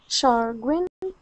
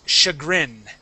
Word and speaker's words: chagrin: Brusher, Cash, Cashits, Chargrin, Champin.